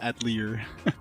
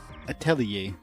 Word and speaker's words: Atelier: uvaria to pass judgment I'd pronounce it Atelier at Lear no definitely not atlier a towelier Atelier Atelier it's French Italian I tell you atlier